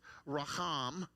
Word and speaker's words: raham: They're pronounced a little different, Raham, Rechem, but they're the same letters.